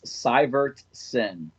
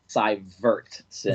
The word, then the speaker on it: Syvertsen: It's Syvertsen. All right. Did you say Cyber or Ver? Syvertsen. Vert. With the V.